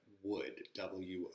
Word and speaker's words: would: take a moment and explain that the W sound with wood almost sounds like West so okay so what I've taught this a few times but so maybe if you've seen this but I'm sorry what what so what where when Wes so wood okay it's the same sound as the W made in Madera okay would wo OD same sound wo uld okay would would you like